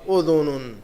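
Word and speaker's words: أذن: تلفظ یاد رکھنا ضروری ہے اس کا، شعرن.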